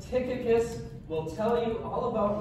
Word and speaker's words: Tychicus: Hey, Tychicus. Can you say that with me? Tychicus.